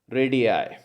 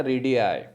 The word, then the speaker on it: radii: रेडियस का जो plural होता है वो क्या होता है दोस्तों, रेडियाई, ठीक है। और उसकी स्पेलिंग क्या होती है, RADII, RADII, और इसकी प्रोनाउंसिएशन याद रखना रेडियाई, ठीक है।